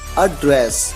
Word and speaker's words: address: है और वो है एड्रेस। अड्रेस। कब? जब इस वर्ड का यूज एक वर्ब की तरह किया जाता है और इसका मतलब होता है संबोधित करना।